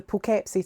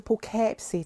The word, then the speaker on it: Poughkeepsie: The Poughkeepsie Tapes. But I keep wanting to call it the Poughkeepsie Tapes because that's how it's spelled, but it's the Poughkeepsie Tapes.